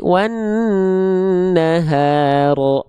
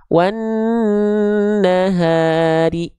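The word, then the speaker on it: وَالنَّهَارِ: Oke, maka huruf ro-nya di sini kita baca tidak ro lagi wan naharo, nggak, tapi kita baca wan nahari. Nah, dibaca dengan vokal i, teman-teman sekalian ya.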